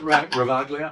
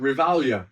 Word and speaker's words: Ravaglia: I said Reagalia. Real Ralia. The G silent. The G is silent. Don't forget. Don't you forget the G is silent. Revalia.